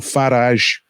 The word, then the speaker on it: Farage: club and uh nigel farage rhymes with garage became a new cup